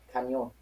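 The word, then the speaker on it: Cañón: C-A-N with a squiggly over the N. O with a little line upward slanting over the O. N. Spelled like cannon, but it's pronounced Canyon.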